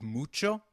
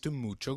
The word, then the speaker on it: mucho: notice the pronunciation of mucho? We earlier learnt that h is always silent in Spanish... However when combined with c it is pronounced as ch as in church Nice to meet you Mucho gusto As we saw...